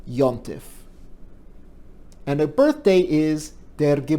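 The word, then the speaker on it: יום־טובֿ: word for a holiday comes from hebrew yom tov but it's pronounced in yiddish like yantif and her birthday is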